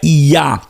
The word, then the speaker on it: Yah: Então, o nome de Deus vocalizado, então, seria Yah, Yud, Kamatz, Rei, ou no português um Y, um A e um H.